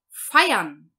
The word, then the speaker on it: feiern: Depois, em azul, o IR, nós vamos pronunciar com som de A. Então, nós vamos dizer Feiern.